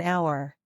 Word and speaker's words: hour: pronounce the word our the first letter sounds like a vowel therefore we would say an hour again it is because